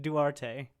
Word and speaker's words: Duarte: yeah, I've always heard it Duarte, in Duarte, my yeah.